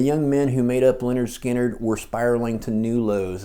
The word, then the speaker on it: Lynyrd Skynyrd: Between recording pronounced Leonard Skannard and Second Helping, the band had gone on tour in support of the Who.